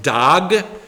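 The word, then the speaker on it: דג: Um, well, the Hebrew word for fish is pronounced dog.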